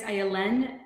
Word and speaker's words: Ayelen: Yeah, my name is Ayelen. If it helps, it's like violin with no V.